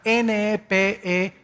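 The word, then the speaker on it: נפש: es la palabra hebrea nepes así como suena n e p e s h nepes la palabra la letra o las letras sh en hebreo se pronuncian en hebreo como J Entonces se pronuncia nepe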